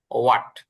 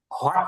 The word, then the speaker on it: What: আচ্ছা, প্রথমে আসছে হচ্ছে আমাদের ওয়াট। বানানটা খেয়াল করবেন, সবগুলো বানান খেয়াল করবেন, যে WHAT, ওয়াট। এটা হট না, মানে এইচ দিয়ে না, হট না, হ দিয়ে না, এটা ওয়াট, ও দিয়ে, What? ওয়াট।